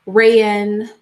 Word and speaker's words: Raewyn: to have to discuss Raywin Connell, sorry. Raywin, her name is spelled really, or his name, whatever, is spelled really funny. It's like Raewyn, so Raywin Connell.